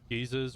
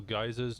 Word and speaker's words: geyser: geezers or geysers, depending on how you pronounce it. I said geyser. Yeah, I always thought it was geyser. And then people were saying geezer to me, and I was like, which guy?